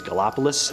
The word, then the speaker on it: Gallipolis: I'm not sure if I'm pronouncing that right, but I think it's Gallipolis.